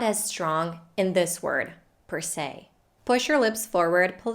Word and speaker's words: per se: so the first word per is pronounced with the schwa sound plus an american r sound our favorite so the